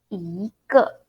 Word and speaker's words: 一个: 一个 I pronounce second tone and then neutral tone. So the 个 this word, when we use it as a measure word, we pronounce neutral tone or fifth tone or no tone.